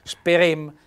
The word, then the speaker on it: Sperem: un colpo Sperem Ecco sentite che bel Sperem con Bell accento chiuso sulla seconda e Sperem con questa